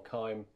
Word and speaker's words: Keim: whether it's Kim or Keim, that you guys in the chat, you have to say, it's Keim. Rhymes with time.